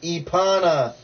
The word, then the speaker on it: Epana: The name is pronounced Epana. You say E, the letter E, and then Pana. It's Epana. The A is silent.